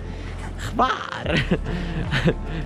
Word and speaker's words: Hvar: Hvar!